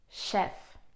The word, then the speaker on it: chef: Now, usually when the word has French origins, then we do not pronounce it as ch, but sh.